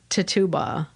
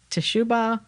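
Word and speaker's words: Tituba: Old Saybrook Library and it's not tatuba I've heard it pronounced different ways tishuba I think is a way so not a hundred percent on that but I look forward to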